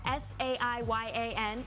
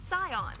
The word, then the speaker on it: Saiyan: to the sion matter when you romanize japanese something spelled sa iya n is pronounced scions yeah for some reason